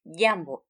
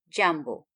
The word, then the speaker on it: jambo: using the word jambo jambo pronounced yambo not jambo pay attention to the